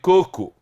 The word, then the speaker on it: coco: Então coco não tem acento, mas cocô tem. Se for oxítona, cocô tem acento.